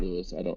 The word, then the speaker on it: Louis: It's the S is silent in Louis when you say it in French.